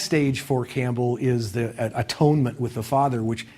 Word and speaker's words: atonement: The next stage for Campbell is the atonement with the Father, which Campbell always insists that we pronounce at-one-ment instead of atonement, which means that the hero achieves a kind of identity with the Father.